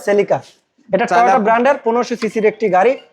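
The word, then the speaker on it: Celica: দেখিয়ে দেই সেলিকা সেলিকা উচ্চারণটা হবে সেলিকা ব্রান্ডের 15 সিসির একটি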